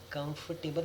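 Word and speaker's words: comfortable: कंफर्टेबल हमने सुना होगा, कंफर्टेबल, कंफर्टेबल, कंफर्टेबल, कंफर्टेबल, कंफर्टेबल, कंफर्टेबल। ओ साइलेंट है यहाँ पर।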